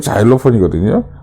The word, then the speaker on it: xylophone: 실로폰, 실로폰도 영어 발음이 자일로폰이거든요.